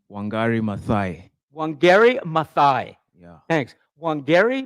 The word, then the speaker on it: Wangari Maathai: So it's pronounced Wangari Maathai.